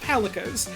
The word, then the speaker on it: Palico: It's like calico, but a pun, because Monster Hunter loves puns.